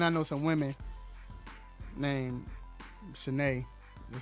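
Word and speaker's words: Cheyney: but it just looked like it would be shine it's an um not a college it's something it's spelled just like that but it's they pronounce it shanae that's why i never know when hmcu i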